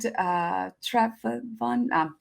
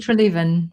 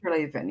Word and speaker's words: Treleaven: So talk to me about Dr. David Trevon. I can't pronounce his last name. David Treleaven. Treleaven, yeah. Yeah.